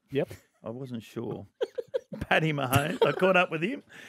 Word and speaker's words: Mahomes: I caught up with Patty Mahomes. Is that how you say it? Yep. I wasn't sure. Patty Mahomes.